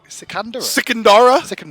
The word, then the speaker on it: Sikandara: Sikandara is how that's pronounced.